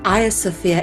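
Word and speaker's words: Hagia Sophia: a mosque for some time its name is pronounced aya sophia in english and turkish despite being spelled differently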